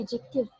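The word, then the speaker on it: adjective: अच्छा जी, फिर आ जाते हैं एडजेक्टिव। इसको आप प्रोनाउंस करेंगे एडजेक्टिव, डी is silent over है, जिस तरह से आप बोलते हो एडजेक्टिव, this is नॉट एडजेक्टिव, this is एडजेक्टिव।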